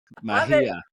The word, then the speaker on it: Megia: Megia. Silent. It's not a silent G. It's just it's like its own G. It's doing its thing. It's its own thing.